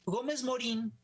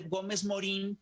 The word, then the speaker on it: Gómez Morín: decidirnos a mi curiosa gómez morín lo pronunciamos con con la y acentuada pero no se escribe con la guía de acentuada a esto el nombre